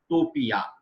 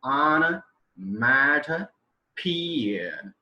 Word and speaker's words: onomatopoeia: onomotopia, like this. I was entirely wrong at the time. And the right pronunciation of this word is onomatopoeia.